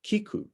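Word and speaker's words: 菊: are used is that chrysanthemum in japanese is pronounced kiku but kiku can also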